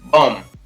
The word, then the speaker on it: bomb: कोई शब्द है उसके अंत में MB आ रहा है तो उस B का उच्चारण है वो नहीं होता है। जैसे बॉम्ब, BOMB है, यहाँ पर इसको पढ़ेंगे B-O-M, बॉम्ब।